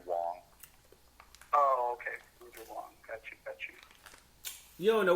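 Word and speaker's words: Huang: politics yeah i'm sorry it's pronounced andrew wong oh okay you don't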